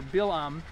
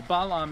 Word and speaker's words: Balaam: You know, in the book of Numbers, the wicked seer or prophet or whatever you call him, sorcerer Bilam, or Balaam as he's sometimes pronounced, he wanted to curse